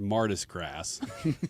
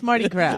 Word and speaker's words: Mardi Gras: It's pronounced Martis grass. There's no S in Marty. I'm here for the grass. I know it's silent. It's like not there. It's Mardi Gras.